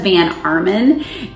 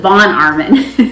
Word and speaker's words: von Arnim: this is by Elizabeth Van Armen and I think it's more like mon Armin not man yes Elizabeth von Arman that's how you say it and this is about